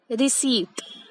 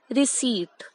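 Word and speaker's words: receipt: इस वर्ड को कैसे कह सकते हैं हम? रिसीट। द P here is silent, so वी से इट एज रिसीट।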